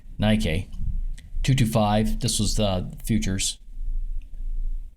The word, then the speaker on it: Nikkei: This was on the Nikkei, or Nikkei, or Nikki, or however you pronounce this. I believe it's pronounced Nikkei.